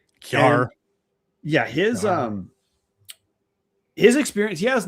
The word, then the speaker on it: Kjar: Weber State hires Eric Kerr, spelled KJAR, but been told it's pronounced Kerr. Kerr.